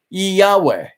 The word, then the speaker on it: Yahweh: W or I'm sorry yhw H pronounced Yahweh the Hebrew name Jehovah